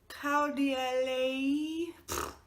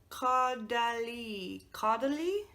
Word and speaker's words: Caudalie: This is the Caudalie. That's not how it's pronounced. Caudalie.